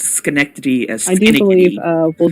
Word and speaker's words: Schenectady: said Shinnikitty once instead of Schenectady, and you will never trust me again.